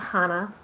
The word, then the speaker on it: CHANA: Start by telling us a little bit about the organization and help me pronounce the name correctly. Absolutely. So the organization is called CHANA, and we are a program of the Associated that was founded 25 years ago.